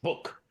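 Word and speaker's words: Buch: That's the pronunciation, not Butch, book.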